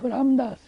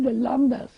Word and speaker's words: Ramdas: And also, when I was able to not pronounce proper name of Ramdas, I said Lamdas. I can't say Ramdas.